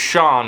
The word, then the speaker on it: Shan: The drug dealer in the Shan state, pronounced Sean in Britain, says Lagos shipping lanes are closed.